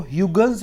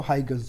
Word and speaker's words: Huygens: हाइगन्स principal कहते हैं, foreign कोई वीडियो देखेंगे उनका एक्सेंट थोड़ा सा डिफरेंट है, तो कुछ लोग इसको ह्यूगन्स प्रिंसिपल भी कहते हैं। चलो अपने बेटा इंडिया में तो हाइगन्स प्रिंसिपल बोलेंगे, ठीक है।